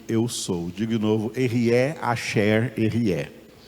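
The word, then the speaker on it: Ehyeh: Então, o nome correto de Deus seria esse, como a forma correta de pronunciar seria essa, como ele mesmo pronunciou diante de Moisés. Diga, Erié. Não Jeová, tá vendo? Não tem nada a ver, Jeová.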